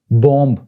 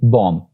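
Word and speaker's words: bomb: बॉम्ब, इसको आपने देखा होगा कि लोग नॉर्मली बॉम्ब ऐसे प्रोनाउंस करते हैं जो कि बिल्कुल गलत है। It's actually बॉम्ब।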